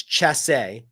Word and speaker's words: Dumont du Chasse: It's Chasse, but there's another syllable. Adrian Dumont du Chasse.